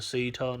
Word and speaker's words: Seton: What they done was put a thing called a ceton in. So that's spelled Seton.